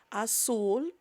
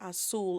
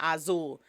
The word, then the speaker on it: azul: card, and actually in azul. The way you pronounce blue is azul, is not azul. Every time you see a Z, In Spanish, think of it as an S sounds.